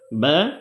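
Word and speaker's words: بَ: বু বা বি বু বা উচ্চারণ অত্যন্ত অত্যন্ত সহজ অত্যন্ত সহজ যে কেউ বা উচ্চারণ করতে পারবে মানে বার উচ্চারণটা অনেক সহজ খুবই সহজ উচ্চারণ হয়ে যায় দুই ঠোটের মাঝখান থেকে উচ্চারণটা হয় বা বিবি বু বাংলা যেমন ব আকার বা বরশিকার বি বরশিকার বু বা বিবি বু হুবহু বাংলা উচ্চারণের সাথে মিল আছে বার উচ্চারণটি এভাবে যদি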